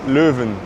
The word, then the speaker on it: Leuven: And the first city we lived in is actually this city I'm in right now which is Louven, how you say it in Dutch. And we're at the Louva station right now.